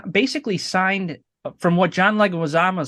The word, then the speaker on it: Leguizamo: Um, You know, he John Leguizamo, is that how you say his name? He was like supposed to Wazamo. play. Yeah, Leguizamo, he was supposed to play the Vulture.